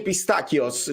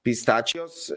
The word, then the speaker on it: pistachios: Qualcuno dice pistacchios, cioè provano a fare il suono, la K, la C che si legge K, no? Pistacchios. Qualcuno invece pistachios e non lo sanno dire, ma io mi insisto.